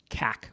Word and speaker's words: CAC: It's often pronounced CAC because it's CAC.